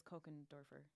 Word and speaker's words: Kochendorfer: Which is Kochendorfer. Hey, I said it right Bingo.